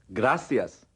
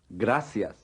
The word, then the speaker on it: gracias: the sea when followed by an eye is pronounced like an s repeat gracias gracias repeat muy bien gracias muy bien gracias and